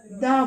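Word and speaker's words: the: আমি বলবো এটাকে বলবো দা বয়। কিন্তু আমি যদি বলবো যে অ্যাপেল, তখন আমি বলবো দি অ্যাপেল। অর্থাৎ যে ওয়ার্ডটা ভাওয়েল দিয়ে শুরু হচ্ছে তার আগে টিএইচটা দি উচ্চারণ করব, আর যে ওয়ার্ডটা কনসোনেন্ট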